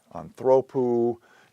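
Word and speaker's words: ἀνθρώπου: Anthropou, if we have the genitive case, anthropos, of a person. In the genitive case, acute accent on the next to last syllable.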